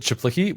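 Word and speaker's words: Czaplicki: do you say his last name so he pronounces it chiplicky we can go on a micro tangent about this uh like when I first met him.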